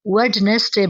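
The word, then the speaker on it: Wednesday: यकीन करें बड़े-बड़े स्टूडेंट्स भी इसे वेडनेसडे बोलते हैं। ठीक है? इसमें डी नहीं आता। ये इसे हम लोगों ने साइलेंट कर देना है। ठीक है? यह प्रोनाउंस नहीं होगा।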